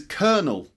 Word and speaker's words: colonel: drawer on the left alright number 17 is colonel colonel a colonel is a senior officer in